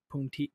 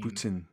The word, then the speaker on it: poutine: about Canada other than puntin poutine poutine is how they say it I'm sorry no